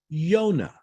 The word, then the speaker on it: Yonah: In Hebrew, Jonah's name is pronounced Yonah.